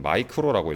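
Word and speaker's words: μ: 이 U자 모양의 요 기호를 우리는 마이크로라고 읽어요.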